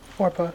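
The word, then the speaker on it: Orpah: How do you pronounce her name? Orpa.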